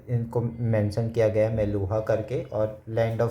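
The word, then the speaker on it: Meluhha: समरियन Sumerian text में Indus reason को ऐसे मेलुहा करके प्रोनाउंस किया जाता है डिपिक्ट किया गया और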